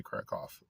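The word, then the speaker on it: Kraków: Crack they they say they don't say crack, they say crack off.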